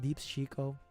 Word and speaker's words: DeepsChico: You know, people have a hard time pronouncing my name. Deeps Chico.